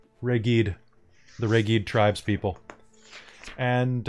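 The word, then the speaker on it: Reghed: grip hunters looks like uh like that is pronounced reggie'd the reggie tribes people and uh what did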